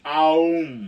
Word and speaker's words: Aum: You're supposed to go like Om from your belly, and it's supposed to be Aum, okay?